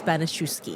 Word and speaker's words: Banaschewski: Welcome Professor Banoski.